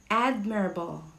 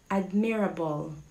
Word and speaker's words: admirable: acoustic our next word is let's see it's admirable admirable admirable hindisha ano admirable or admirable hindi it's admirable admirable it means